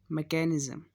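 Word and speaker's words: mechanism: अभी दूसरा वर्ड है मैकेनिज़्म, स्पेलिंग में वहाँ भी CH आ रहा है, लेकिन वहाँ ये CH श का और मैकेनिज़्म में क का.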